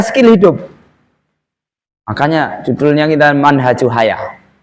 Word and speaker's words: Manhaj: Makanya judulnya kita Manhajul Hayah. Ini kalau pendek, bacanya manhaj. Kalau minhaj itu panjang ya. Seperti Minhajul Muslim itu bacanya minhaj. Ya, kalau ini haknya pendek, bacanya Manhajul Hayah.